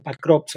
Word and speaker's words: Pokrovsk: Pokrovsk o Pakrovsk, algunos lo pronuncian con A, pero se escribe con O.